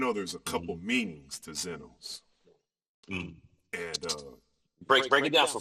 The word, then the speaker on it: Xenos: I know it's a Greek word, Xenos. Yeah. It's where we get xenophobia from. But I was going to ask you about, because there's a couple meanings to Xenos.